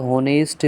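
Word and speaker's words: honest: Number ए है ही इज अ होनेस्ट मैन। तो इसमें जो एच है वो साइलेंट है।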